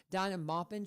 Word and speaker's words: Dinah Maupin: But again, this is Donna Min.